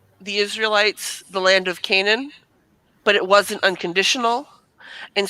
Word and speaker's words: Canaan: Israelites inheritance of Cana is that how you pronounce it Cana the the land area okay yeah Canaan there we go there's an end in there I don't know it